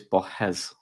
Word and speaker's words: Borges: We was trying to look for pronunciations, and apparently it's Borges. So there you go.